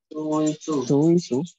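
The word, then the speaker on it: スイス: Ini Sandisang, bacanya apa? Suisu.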